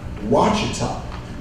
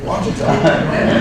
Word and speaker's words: Ouachita: Ouachita. Okay, I knew I was going to mess it up. Okay, Ouachita. Later, it's spelled Q-U-A.